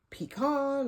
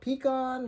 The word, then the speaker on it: pecan: Pecan or pecan, whichever way you pronounce it.